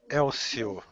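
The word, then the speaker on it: Hélio: did it wrong uh Elio Elio Elio so no pronouncing the H yes uh you type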